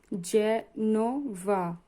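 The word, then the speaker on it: Genova: fungi fungi মানে mushroom জেনভা জেনোভা এর পরে এ আছে উচ্চারণ হবে জ এর মত জেনোভা জেনোভা মানে ইতালির একটা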